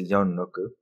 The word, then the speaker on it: Youngrok: If you, in Japanese, my name is pronounced as a Youngrok. Uh-huh. And Yo means 4, Rok means 6.